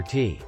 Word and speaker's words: teh: trade deficit with China by selling opium for tea.